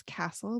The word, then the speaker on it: Kasle: is at kkasle that's my last name is Castle but it's spelled kind of funny with a K and on there you